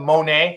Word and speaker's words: Monett: work on my petition to have it called Monae instead of Monette I I could try but as many times as we' went around the state when I played football they pronounced it that way anyways mon we so I just think